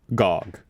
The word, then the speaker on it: GOG: Bicycle, saying that it's pronounced GOG.